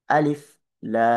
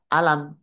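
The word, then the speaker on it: الم: Jadi bacanya alif lam. Mim. Jadi jangan dibaca alam, jangan, tapi di di ee diuraikan huruf tersebut pada nama hurufnya masing-masing.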